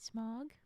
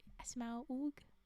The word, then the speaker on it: Smaug: Is it Smaug? Is it Smog? How how do you say it? What's your pronunciation? Smaug. Well, yeah, no, but how do you emphasize for me? Try and help. Smaug. Smaug. Yes, instead of just smog.